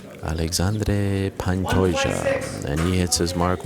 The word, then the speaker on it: Alexandre Pantoja: Alexandre Pantoja steps onto the scale. Thank you very much to my colleague Guilherme Cruz for that pronunciation. Alexandre Pantoja.